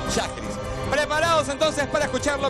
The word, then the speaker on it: Schajris: breve breve y corta Cómo se dice esiris oiris o cómo es shis sheris ya porque me dijeron en el Twitter y me dijeron pronuncia bien sheris preparados entonces para escuchar